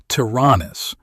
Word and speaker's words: Taranis: Arik Taranis, pronounced Taranis, is hiding on Terra under the criminal alias Babu Dakal.